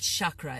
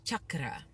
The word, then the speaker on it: chakra: pronunciation for you guys it's not chakra it's Chuck Cara we get all that